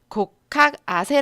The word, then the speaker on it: 곡학아세: 에 전체 조금 읽어보겠습니다 고 카세 라고 읽고 요 여기서 두번째 학자는 우리가